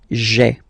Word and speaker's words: j'ai: you get this sound j'ai, j'ai. Okay, so j apostrophe ai. Remember, when you combine this ai, you get the e sound.